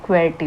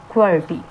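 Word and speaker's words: QWERTY: क्वेटी बोलते हैं। क्या बोलते हैं? मैं यहां पे लिख देती हूं क्वर्ट।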